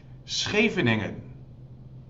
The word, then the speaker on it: Scheveningen: Scheveningen.